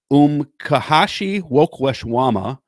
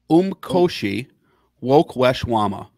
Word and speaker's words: Umkhosi Wokweshwama: It's the first one is three syllables. It's Umkhosi. And then it looks like woe is a syllable, kwe, and then shwama. Yeah, I pronounce it as Umkhosi Wokweshwama.